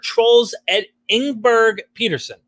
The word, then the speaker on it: Troels Engberg-Pedersen: a special guest today and i hope i pronounce your name it's dr trolls ed inberg peterson correct excellent wonderful yes it couldn't be better